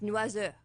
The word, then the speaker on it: Noiseux: It's Noiseux. How do you Noise. spell it?